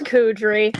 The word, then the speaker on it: Kouidri: And now Kouidri, is that how you say it? It's Kouidri.